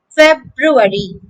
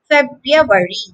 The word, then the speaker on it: February: a few different ways in british english it commonly is commonly pronounced february i know it sounds difficult but it's not to say it correctly you have to say february february the american version is much easier the first hour is silence so february february february a